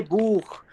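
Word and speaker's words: Buch: ये लिखा है CH, इससे पहले क्या आ गया, U, क्या आ गया, U। तो अब ये CH कैसा साउंड देगा दोस्तों, खा का साउंड देगा। कैसा साउंड देगा, खा का साउंड देगा। ठीक है ना। तो इसको पढ़ेंगे बूख, बूख, बूख।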